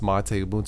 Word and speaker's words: MATE: video I did Ubuntu mate yes it is pronounced mateu mate 1504 review um some of you understandably